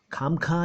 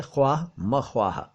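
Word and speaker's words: ख़्वाह-मख़्वाह: खाम खां या खामा खां नहीं है, यह है ख्वाह मख्वाह, ख्वाह मख्वाह।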